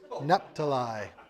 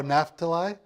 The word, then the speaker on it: Naphtali: The H is an F. Oh, Naphtali?